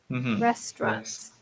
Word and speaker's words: restaurant: pronunciation usually wrath struct restaurants we don't pronounce the a restaurant yeah excellent D is